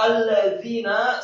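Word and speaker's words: الَّذِينَ: Kata alladzina sama seperti kata sebelumnya, lamnya tasydid, fathah satu harokat, kemudian za-nya tipis dua harokat karena setelahnya ada ya sukun, kemudian nunnya fathah satu harokat, kemudian li ikhwanihimul ladzina kafaru.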